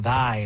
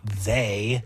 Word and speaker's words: thy: T H O U is pronounced thou, not the th hy is pronounced thy, not they.